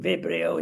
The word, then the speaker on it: Vibrio: We're going to fly here down to Spain and mention Vibrio, pronunciation Vibrio in Spanish.